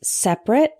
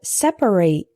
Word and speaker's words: separate: Our next heteronym is separate and separate.